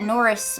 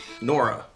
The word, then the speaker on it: Nora: I don't know who I thought Aunt Norris was. Nora. You said Norris. What's the difference? The sound at the end?